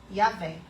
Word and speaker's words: Yahvé: Nós pronunciamos Yahvé. A gente canta já hoje isso, não é? Mas aí você vai lá olhar que a palavra Yahvé são só 4 consoantes. E essas 4 consoantes, elas só podem ser pronunciadas quando nós respiramos. Então você vai abrir a boca e você vai inspirar pela boca, inspira e respira.